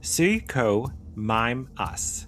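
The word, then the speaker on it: Suchomimus: Sukumimus, pronounced suo mimeas, meaning crocodile mimic, was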